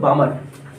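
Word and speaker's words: Balmer: एक वैज्ञानिक थे मेरे बच्चों बामर, एक वैज्ञानिक थे बामर, जिसमें एल साइलेंट है।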